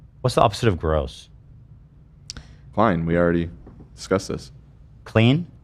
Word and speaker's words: Klein: Klein. We already discussed this. Clean? Klein. Clean. It also is in English. The opposite of gross in English is clean. Uh-huh. Some people mispronounce my name as clean.